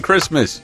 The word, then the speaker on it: Christmas: and good oldfashioned Mone nobody pronounced the T in Christmas yeah nobody Christmas just